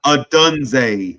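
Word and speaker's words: Odunze: Adunze.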